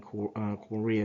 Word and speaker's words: chorea: one of the main symptomologies in Huntington's being cora that's um that's spelled C H O R E A um and where the edition became um broadly known um as Huntington's Korea.